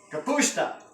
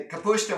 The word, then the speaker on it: kapusta: Kapusta. Kapusta. How do you say that in Slovak? Kapusta. And how do you say it? It's not sauerkraut.